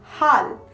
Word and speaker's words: হ: The first letter of this set we have here is ha. The pronunciation of ha is similar to the ha of hot in English.